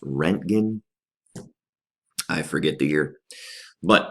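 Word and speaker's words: Röntgen: with by a guy his last name is pronounced roentgen I forget the year but what he was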